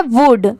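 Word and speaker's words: would: वल्ड क्यों नहीं पढ़ेंगे तो नहीं यहां पर एल लेटर साइलेंट है सिर्फ डब्लू ओ यूडी की यहां पर साउंड आ रही है इसलिए इसको वुड पढ़ेंगे यहां पर सिर्फ लिखते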